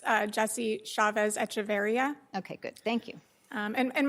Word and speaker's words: Chavez-Echeverria: I believe it's Jesse Chavez Echeverria.